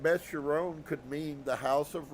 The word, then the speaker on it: Beth Chiron: Phonetic accent on the last syllable. Beth Chiron.